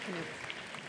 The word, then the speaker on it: Klemick: So, pronounce the K. Klemick.